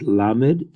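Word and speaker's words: lamed: that will go for us this letter is pronounced like an L and it is called la made in Hebrew and it is formed as you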